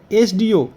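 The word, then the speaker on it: SDO: এখানে এস ডি ও এখানে উচ্চারণটি কি হচ্ছে এস ডি ও অর্থাৎ শুরুতেই আমাদের দেখো উচ্চারণ এ রয়েছে এস এখানে শুরুতেই উচ্চারণটি রয়েছে এ অর্থাৎ স্বরবর্ণের উচ্চারণ তাই এখানে আমরা এন আর্টিকেলটি বসাবো কিন্তু দেখো এখানে এখানে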